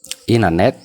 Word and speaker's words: internet: Fakkeenyaaf n jennee tii sana silent goone yookaan akka hin jirretti fudhanna. Akkasitti dubbisa jechuudha faranjoonni. Printer. Na waliin jedha. Printer. Printer. Printer. Printer. Printer jedhanii pronounce godhu jechoota tiin yeroo n booda dhuftu garaagaraa akkamitti dubbisna jechuudha. Akka kanaatti tii silent goone dubbisna.